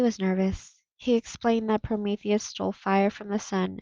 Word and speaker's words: Prometheus: to eat prometheus's liver in ben's nervousness he mispronounced prometheus so that he actually said so what he actually said was that zeus sent vultures down to eat porpoise's liver mary lou invited both